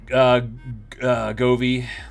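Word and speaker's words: Govee: Goovdo or Goovy, however the hell I don't even know. How do you say that? Govy.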